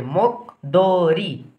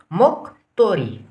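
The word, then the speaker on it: 목도리: रमा इ रि भयो यसको उच्चारण के गर्ने मोक दोरी गर्ने होइन मोक दोरी गर्ने होइन कि अब यो दलाई के भन्नुपर्ने त त भन्नु पऱ्यो त्यस कारणले मोक तोरी यो त ममा हो म क भयो आदि अब यसको उच्चारण गर्नु पऱ्यो त तमा ओ जोडियो तो भयो रमा इ जोडियो रि भयो त्यस कारणले यसको उच्चारण भयो मोक्तोरी मोक्तोरी भनेको के होला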